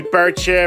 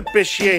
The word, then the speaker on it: Bichir: really grinds my gears people pronounce bashir wrong people say bird chair biker and bitcher but uh buy the beshear handbook it's a great